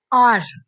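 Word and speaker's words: hour: First word है आर। ठीक है? आर आर जो है वैसे स्टार्ट तो एच से हो रहा है लेकिन जो एच है साइलेंट हो जाता है तो ओ की साउंड देता है। ओ जो है एक वोवेल साउंड है।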